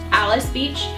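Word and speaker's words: Alys Beach: great honorable mention and then next is alice alice beach which is funny cuz it's spelled like alleys beach but it's pronounced palace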